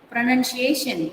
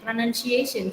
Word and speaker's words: pronunciation: Pronunciation. Pronunciation. So you have to go high when you stress on that particular third syllable.